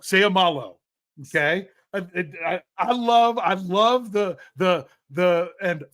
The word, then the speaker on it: Seumalo: Okay, it's very simple. Every vowel gets a syllable. So you have to pronounce every vowel with its own syllable. Seumalu. Or sorry, I said u instead of o. Seumalo.